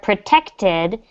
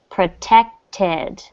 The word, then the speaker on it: protected: So here you see the word protected. It ends in that TED. So in this case, you do want to pronounce the final syllable. Protected the yard.